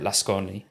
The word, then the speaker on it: Lasconi: the BBC, and Elena Lasconi. It might be Lascon, I think you don't pronounce the I on the end, but who's sort of centre left or quite a centrist candidate.